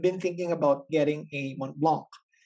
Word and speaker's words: Mont Blanc: So actually, for quite some time now, I've been thinking about getting a Mont Blanc. But the thing is it Mont Blanc? Or should I silently put T?